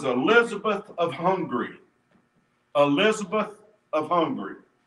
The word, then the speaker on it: Hungary: of hungary elizabeth of hungary now that's how you say it it's spelt hungary but it's hungry i looked it up my